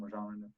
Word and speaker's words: Rajon Rondo: That's how you say his name, Rajon Rondo. Rajon. Mm-hmm. Rajon Rondo, sorry.